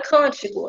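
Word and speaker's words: cântico: E aí, percebam que o co aqui não é a sílaba forte, nem o ti é a sílaba forte. A gente diz mais forte o can.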